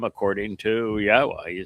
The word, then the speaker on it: Yahweh: Um where both tell us how to pronounce Yahweh's name, the W uh is the O sound in Torah. That's where it comes from. And the hey is the ending of uh of Torah.